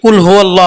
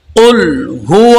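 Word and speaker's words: قُلْ: পড়তে হবে আমরা অনেকে কুলহু আল্লাহ বলি এটা হবে না আমরা কিভাবে শুদ্ধ ভাবে পড়তে পারি এটাই আপনাদেরকে আমি শিখাচ্ছি কুল কফ এখানে কফ হবে অনেকে কাফ বলে এটা হবে না কুলহু আল্লাহু আল্লাহু মানে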